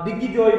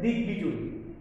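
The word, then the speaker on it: দিগ্বিজয়ী: এই জন্য দিক বিদিক, অনেকে দিক বিজয়ীকে দিগ্বিজয় বলে, এটা হবে না, আমাদের মূল উচ্চারণ করতে হবে দিক বিজয়ী।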